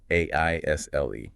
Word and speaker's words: aisle: But the S is silent here, too. The pronunciation is simply an ol. Oh, whoa. It sounds exactly like the word isle, meaning a small island. Or I'll, as in I will.